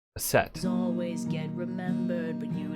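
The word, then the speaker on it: Aset: adaption of the name her name in hieroglyphs is that which by convention would be pronounced a set always get remembered but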